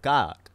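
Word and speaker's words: Kaak: I put in the word kak, which is a kind of Sudanese or like an Arab cookie. That it's delicious. Can you spell it? K-A-A-K. I think that's why they didn't like it. Yeah, so they're like, foreign shit? Yeah. No, just because it sounds like cock.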